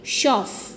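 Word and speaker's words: chauffeur: अब देखो इसमें जो आर वर्ड है ये साइलेंट है, इसको हम क्या वर्ड बोलेंगे? शॉफ।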